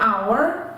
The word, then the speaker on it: hour: attention to for example there are some words that begin with consonants but are pronounced with a vowel like our we always say an hour and not an hour